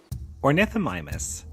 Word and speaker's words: Ornithomimus: Ornithomimus, pronounced Ornith Omimus, whose name means bird mimic, was